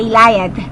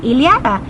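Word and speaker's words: Ilíada: leada y liath bueno yo le decía de ilayad porque porque yo pensaba que se pronuncia Esa esa segunda y se pronunciaba Ay entonces yo decía y en vez de iliada y mi esposo me decía no se dice sí se dice casi como iliada Bueno yo no podía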